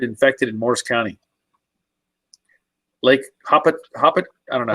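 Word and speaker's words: Hopatcong: Lake Hoppet. I don't know how to say it. It's Lake Apacon. Okay, Apacon, but it's actually Lake Apacon is how they pronounce it.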